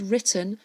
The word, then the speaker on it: written: written in 1984 now that word written has got our silent W again there are 15 Katy